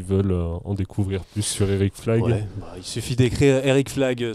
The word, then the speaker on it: Éric Flag: Eric Flagg, ça s'écrit comme ça se prononce, et c'est aussi pour ça que j'ai choisi ce nom.